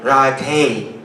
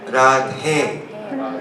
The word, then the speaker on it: Radhe: So wrong pronunciation would be radhe, radhe. But proper pronunciation would be radhe, eh.